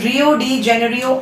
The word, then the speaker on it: Rio de Janeiro: इट is next topic is very important which is रियो डी जेनेरियो earth summit. कुछ teachers इसे रियो को रायो डी जेनेरियो भी पढ़ते हैं, तो इट इज a name, you can pronounce it anywhere.